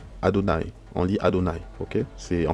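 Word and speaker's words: יהוה: Donc le nom sacré de Dieu, imprononçable, mais en hébreu, en fait, ça se lit Adonai.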